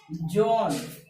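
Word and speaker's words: John: अब उसके बाद जो है जॉन, जॉन बोलिए, जॉन बोलिएगा जॉन, जॉन, जो के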